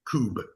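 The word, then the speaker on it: Kubb: So for people who are interested how do you spell that? K U BB coup.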